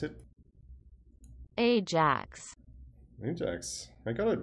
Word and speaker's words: AJAX: something using ajax request because that's how you pronounce it ajax new jacks i got it right ajax all right so to keep this simple there's